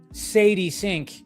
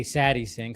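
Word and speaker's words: Sadie Sink: Now, that Sadie Sync, I know I keep on I always say your name wrong. I always say Satty Sing.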